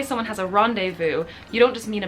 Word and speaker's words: rendezvous: of hard I want to say the French pronunciation but anyway rendezvous as we say in English in modern French